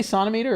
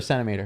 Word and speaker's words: centimeter: is a few centimeters do you say sonometer or centimeter I say centimeter but I hear people say these Brits I don't know who says it but I hear Americans saying it and it's been a medical thing nobody outside of medicine says sonometer sonometer like you say I have 25 saunts in my pocket you don't say that and what about is